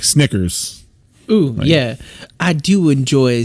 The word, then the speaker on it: Snickers: Grab a Snackers. And then that's like, whoop, nope. You said it wrong. Nope. I'm like, oh, fuck, it's Snickers.